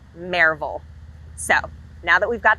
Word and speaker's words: Maryville: you're not a local it is not pronounced maryville it's pronounced marvel so now that we've